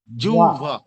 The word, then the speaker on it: জিহ্বা: জিহ্বা মানে জিউভা। হালকা, ভটা হালকা ঠোঁটে লাগবে, দুই ঠোঁট হালকা লাগবে, বেশি একেবারে ফাঁকাও থাকবে না, আবার একেবারে বেশি চাপ দিয়েও লাগবে না।